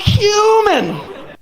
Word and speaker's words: cumin: was my roommate he's right I should have pronounced it correctly if I'd have been like Oh cumin he'd heard that and be like what oh